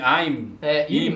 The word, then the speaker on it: Imu: Im, Aim, Imu, no japonês, se não me engano, ficou como Imu. Sim, Imu, a pronúncia, que fica meio que também até mais fácil pra gente, porque parecem duas sílabas.